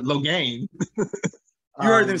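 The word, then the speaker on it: Logain: massimo uh i'm sorry low gain i always say login but low gain you heard them say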